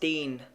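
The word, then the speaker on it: 電: I, like the E in the English fee or C, e.g. din. Electricity would be pronounced deen.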